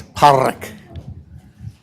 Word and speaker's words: Pádraig: And to say it right, you got to get what my wife is a linguist, and she calls it a flap, so it's Pádraig.